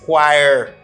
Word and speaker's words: choir: say chir not e it's not Qui it's choir choir for example the church choir practices Thursday